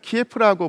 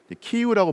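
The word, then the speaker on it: 키이우: 예전에는 키예프라고 불렸던 도시, 그러다가 요즘에는 우크라이나 발음을 존중해서 키우라고 불러주는데, 이 키우가 가장 중심이 되고 이쪽 지역이 가장 번성했기 때문에 키우 루스라고 불렀습니다.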